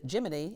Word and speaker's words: Gemini: You can find Gemini or as the space program pronounces it, Jiminy and Mercury remastered wherever books are sold.